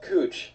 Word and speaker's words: Couch: It's Cooch, but it's spelled Couch.